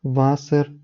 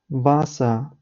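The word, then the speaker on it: Wasser: як говорять це німці але в кінці слова як я вже згадував вона не завжди читається і є такі слова як дер ІР ер зомер васер лірер як я вже казав варшалі це неправильно читається правильно воно буде звучати без читання чіткого р Скоріш буде ніби р перетворюється на ар але ар майже не чути тобто тільки а а Іа іа зома Васа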